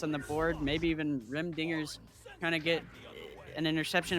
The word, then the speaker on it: Rim Dingers: two-pointer putting them on the board yeah rem dingers there we go i said it right that